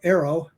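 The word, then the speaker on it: AARO: a statement like that about Arrow that's how we pronounce the acronym NOW Arrow um that statement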